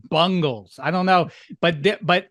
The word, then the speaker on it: Bengals: I'm from it's pronounced bungles I don't know but but he's saying it Bangles like the 80s band Walk Like an Egyptian and all that why